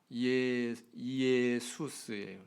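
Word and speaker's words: Ἰησοῦς: 헬라어를 그대로 발음을 하면 이에수스예요. 이에수스.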